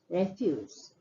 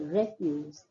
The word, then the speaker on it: refuse: So what you will notice here is when the word is used as a noun, the stress is more on the first syllable and the pronunciation is a little different. It's a refuse, refuse.